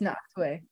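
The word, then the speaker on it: Nachtwey: played about the more photographer yeah yeah James knocked away yeah and it's spelled like n-a-c-h-t-w-e-y um there was something there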